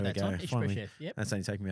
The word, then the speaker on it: Ishbosheth: Ishbosheth.